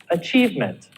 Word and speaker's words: achievement: Does it change? No, it doesn't. Achievement. Achievement. The stress is still on achieve.